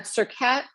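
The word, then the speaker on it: Surkhet: And then you said Circat is, the T is pronounced. I guess it is. I mean, I looked up the pronunciation online and they were kind of not pronouncing the T, but then when I heard the Blink Now video, they were saying Circat, just the way it Circat.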